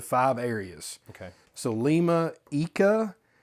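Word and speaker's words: Ica: So Lima, Eeka, Araquipa, Moa. You pronounced all those amazingly.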